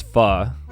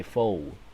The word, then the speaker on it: pho: The term derives from Spanish, which is pronounced guacamole. I know that's pho.